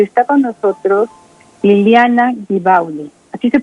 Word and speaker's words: Ghibaudi: Yo soy la señora y está con nosotros Liliana Gibauli. ¿Así se pronuncia, Liliana? Sí, así se pronuncia, Liliana Gibauli. Es de ascendencia italiana. Y Liliana Gibauli.